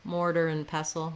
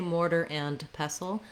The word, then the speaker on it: mortar and pestle: really highlighting the and if i'm natural it's going to sound a little more like mortar and mortar and pestle maybe a little bit of an n sound here or an n sound um you can think of it just as a syllabic n where the n is the only syllable um mortar and mortar and pestle and pestle then you've probably